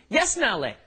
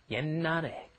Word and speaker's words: 옛날에: You see that sh at the bottom there, you're thinking, 옛날에. No, that's not how it's pronounced. A lot of the time when the 받침's come up against another consonant, then they will be kind of swallowed, held back, glottalized. It's called, so what you're doing is you're just pronouncing an N, 옛날에.